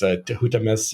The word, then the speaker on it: Tehutamis: So we know the pronunciation of Tutmosis, which I wish I could just rattle off. I can't think of it offhand right now, but that's another one we know really well, and it's Tehutamis or something like this,